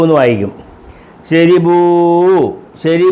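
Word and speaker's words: شربوا: Gusset വരുമ്പോൾ രീ എന്നുള്ള ഉച്ചാരണമാണ്. മളം അരി എന്നൊക്കെ ഉള്ള രാ എന്നുള്ള രി. ഷീന് ഷ റാ രി. എഴുതിയേക്കുന്ന റീ എന്നും പറയേണ്ടത് രീ എന്നും. എഴുതിയേക്കുന്ന റാ റീ എന്നാണ് എഴുതിയേക്കുന്നത്, പറയേണ്ടത് രീ. ഉണ്ടോ?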